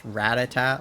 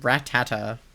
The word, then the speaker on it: Rattata: It's Ratata, like Ratata, run. So, I mean, that makes sense that it's like Ratata, but I don't know, Rattata was the way that I was pronouncing it, I think.